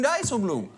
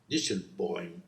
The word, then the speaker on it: Dijsselbloem: 'Dieselboy' I don't know whether it's pronounced like that, It depends on what you tried to say. If you tried to say Dijsselbloem, than you didn't quite suceed.